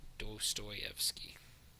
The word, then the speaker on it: Dostoyevsky: So STO is pronounced Stoy. So from the O to the E, there's a Y sound. Is that how that works? Interesting. Very interesting. Stoyevsky. Dostoyevsky.